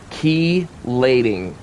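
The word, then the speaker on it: chelating: up and it's pronounced keyating. The ch is silent. It forms a c sound like key. Like put my key in the door.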